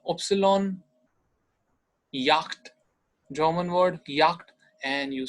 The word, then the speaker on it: Yacht: Yacht, German word, yacht. And you say it, same spelling in English, but you say it yacht. So it's a yacht, picture is also seen.